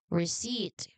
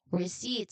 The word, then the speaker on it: receipt: And lastly, we have receipt. Again, receipt. So this is silent letter P.